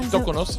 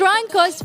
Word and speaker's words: Troncos: It's not Toconos. It's almost close enough. It's Troncos versus Mexico.